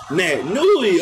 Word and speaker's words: Naitanui: NAITANUI, okay, that's how you pronounce his name.